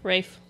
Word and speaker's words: Ralph: Rafe. It's pronounced Rafe.